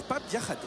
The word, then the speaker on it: Diakhaté: Et en Wolof, on prononce Pape Diakhaté.